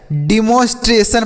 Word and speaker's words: demonstration: उसके बाद है TRA, तो इससे हम पढ़ेंगे ट्रे। क्या पढ़ेंगे? ट्रे पढ़ेंगे। TRA को ट्रे और S से आधा श हो जाएगा। और TION को अभी हमने बताया कि सन पढ़ना है। क्या पढ़ना है? जैसे हमने यहाँ पर देखा है ना, TION है तो सन पढ़े हैं, TION है तो सन पढ़ेंगे। तो यहाँ पर भी TION है तो इसे भी सन पढ़ा जाएगा।